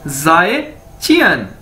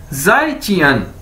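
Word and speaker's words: 再见: हम उसे कैसे कहेंगे, जाए चियन, जाए चियन। ये देखिए मैंने इसको प्रोनाउंसिएशन इसकी बता दी है, ZAI, जाए ची अन, जाए ची अन, जाए चियन, जाए ची अन, यानी गुड बाय।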